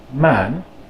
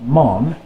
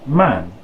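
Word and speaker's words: maan: Next we have the long A, and this word is pronounced man, not mon, and not man, but in between there you'll find the A, just like the letter A in the alphabet.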